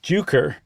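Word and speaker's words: Jucker: people started calling it juker with the hard J like the J pronounced not like a y and then that very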